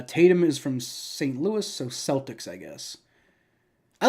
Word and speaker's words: Celtics: sure but they also pronounce their name wrong it should be Celtics you know that should